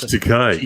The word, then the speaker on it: Takei: And like George Takei, and like Takei, whatever, however you pronounce his name. It's George Takei, Greg. Tiki, because I want to be disrespectful, because he deserves it.